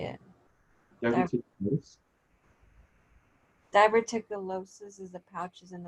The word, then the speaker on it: diverticulitis: Diverticulitis? Diverticulosis is the pouches, and then the other one is what? Diverticulitis. So just itis at the end.